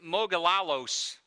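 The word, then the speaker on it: μογιλάλος: deaf and could hardly talk the word is mogul a loose that's exactly how you're supposed to pronounce it by the way and it's used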